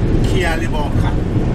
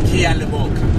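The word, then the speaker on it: Ke a leboga: is the last one, Kia Liboka. Do you see that? Kia Liboka, yes. The G-A at the end is pronounced as a K-A. Kia Liboka.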